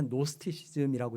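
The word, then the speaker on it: Gnostic: 영어로 이제 얘기할 때 노스티이라고 얘기하는데 어 영어 스펠링에 그 짓 맨 앞에 나오는 진자가 묵음이 근데 이제 헬라어로는 그리스어로는 그노시스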